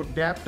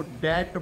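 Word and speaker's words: debt: पास इतनी डेप्थ है बस यहां पर भी साइलेंट रहता है इसलिए इसको डेप्ट नहीं इसको डेट बोलते हैं डेट डी ई बी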